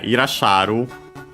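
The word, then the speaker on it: いらっしゃる: Because yeah, Irasharu is accented. Actually, I think I'm pretty sure it should be accented.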